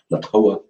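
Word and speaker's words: La Toja: Since it is a Spanish soap, always kind of, the J always gets pronounced kind of like an H sort of, Latoa.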